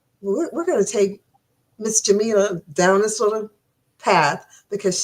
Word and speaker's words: Jamela: So that's why we call her Professor, and it is pronounced Jamela for all of those interested.